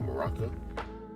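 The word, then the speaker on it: Muraka: That's how you say his name, Maraka. Now, through beating Quint, you get these drops that allow you to trade and get witches, earrings, and ogre rings, while as beating Maraka allows you to get a chance to get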